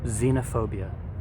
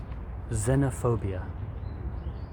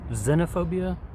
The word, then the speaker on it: xenophobia: look at your handout it's spelled with the letter X but when you pronounce it it has a Z sound so please say it with me xenophobia xenophobia some people say xenophobia or xenophobia I think it's a